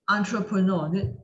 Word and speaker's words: entrepreneur: i air er ear why do we read entrepreneur there's so many ways of reading that word